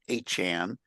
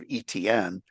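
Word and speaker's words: Etienne: We learned that he pronounces a Cajun pronunciation of the name, and it's actually sounds like Achan instead of ETN.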